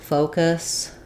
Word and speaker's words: focus: And then also make sure that your O is nice and round here. Sometimes people will make a matching vowel and they'll use more of a schwa sound here because they match between the two syllables, and then it'll sound like fa in the first syllable, which you definitely want to avoid. So practice saying, for example, no focus, go focus, to really focus on getting that clear O sound.